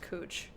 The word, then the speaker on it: Couch: Actually, there's a street in Portland that's spelled couch, but pronounced cooch. I thought when I drove my moving truck in here, I was like, tee-hee-hee, Google Maps said cooch, that's funny. But then I was told, no, that's how you pronounce that.